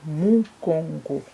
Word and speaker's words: mongo: 15e mot c'est Mongo Mongo en lingala les U est prononcé ou 16 c'est